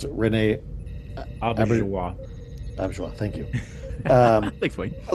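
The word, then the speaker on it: Auberjonois: I always mispronounce it. Renee Auberjois. Auberjois.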